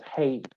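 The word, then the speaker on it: 希: In modern Cantonese, it's pronounced as hei, which is a diphthong, a.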